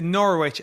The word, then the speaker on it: Norwich: I think it's Norwich. It's Norwich and like Wednesday, right?